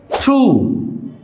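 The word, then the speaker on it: through: থ্রু, থ্রু means মধ্য দিয়ে। High, high means উঁচু বা উচ্চ। হাইট, উচ্চতা। ফাইট, যুদ্ধ। প্রত্যেকটি ওয়ার্ডের সাথেই জিএইচ আছে, প্রত্যেকটি ওয়ার্ডের সাথেই জিএইচ আছে এবং কোনোটারই উচ্চারণ হয়নি।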